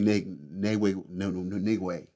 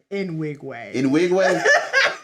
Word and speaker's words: Nwigwe: Last one I seen was Toby Nigway. How you say his name? Nwigwe.